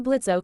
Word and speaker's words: Blitzo: Help wanted impmed Immediate murder professionals see Blitzo. The O is silent on the third floor for a hell of a great job.